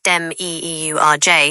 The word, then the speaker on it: demiurge: From the perspective of someone who believed in Gnosticism, the demiurge, pronounced dem-e-e-u-r-j in modern terms, would be understood as the asterisk flawed, ignorant, or even malevolent creator of the material world we inhabit.